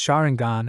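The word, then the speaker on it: Sharingan: let out a chuckle it's pronounced shangan and Bakugan I will explain them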